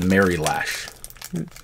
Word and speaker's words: Mary Lash: beauty and it's called the mary lash like i'm a marion pippen no like mary had a little lash uh-huh all right this